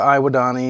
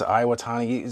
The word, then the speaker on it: Iwatani: So, that's the Iwadani. It's Iwatani.